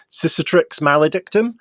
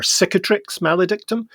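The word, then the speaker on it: Cicatrix Maledictum: kicker Trix maledictum or depending on how you pronounce it cetrix maledictum or catric maledictum really yeah you know just you know what's pulling our legs why cicatrix because it's just a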